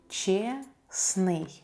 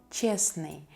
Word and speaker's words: честный: Честный. Честный. Adjective honest. Честно. Честно. Adverb honestly. We don't pronounce the letter T here.